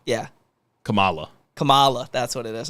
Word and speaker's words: Kamala: kamla communist coma coma how do they mispronounce pronounce it it's like coma Kamala no Kamala is correct yeah Kamala Kamala that's what it is okay I'm so